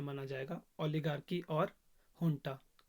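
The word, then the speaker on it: junta: माना जाएगा ओलिगार्की और हंटा जीयू एनटी स्पेलिंग है लेकिन प्रत्य इस को हंटा है अब जो यह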